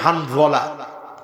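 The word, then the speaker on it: حنظلة: রাসূল স্মরণ করলো হামজালার কথা, বলেন তো হানভলা, উচ্চারণটা সুন্দর করে কন্ত দেখি, হানভলা, হানভলা।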